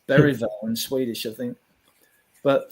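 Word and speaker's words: Bergvall: as his name is beral you don't pronounce the G and bergville it's beral in Swedish I think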